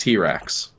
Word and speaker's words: TRX: made their top-of-the-line truck called the uh TRX pronounced T-Rex they they made it in spite of Ford